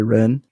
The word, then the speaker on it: Ren: social rituals is related to this concept of Ren is that pronounced somewhat correctly Wren yeah can you tell us a little bit